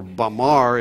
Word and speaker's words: Bamar: from the same term bimma and bimma or or bamar if you would pronounce it in the angelized way is the dominant population